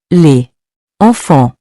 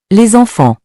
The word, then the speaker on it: les enfants: For example, with lait, the S is usually silent, but when the next word starts with a vowel, it is pronounced like a Z. So instead of saying les enfants, we pronounce it like les enfants.